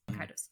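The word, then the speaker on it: Kaitos: I also got this from PlayAsia, the Baten Kados. How do you say this? Kaidos.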